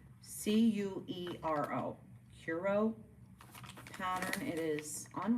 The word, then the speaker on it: Curo: It is called the Curio, but it's spelled weird. C U R O.